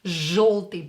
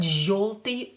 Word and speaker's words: Желтый: Желтый, but pronounce it as O. After Ж, yo is pronounced as O. Желтый, not желтый or any other pronunciation.